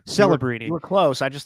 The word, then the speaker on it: Celebrini: Celebrini. Celebrini. You were close. I just thought you mispronounced it.